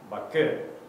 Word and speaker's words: Baku: And the thing is, it's pronounced Baku, which is in between.